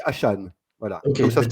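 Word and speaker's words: Achane: Il m'a dit, non, mais on dit Devon Achan. Hachan. Donc, on dit Achan.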